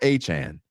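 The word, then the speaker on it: Achane: But I have always had I've tried to fix it dozens of times, and I still pronounce it wrong every time I do it for the first time. Achan.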